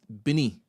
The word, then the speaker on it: Benin: Firstly, Benin in Nigeria is actually pronounced Bini. All right, so it's Bini.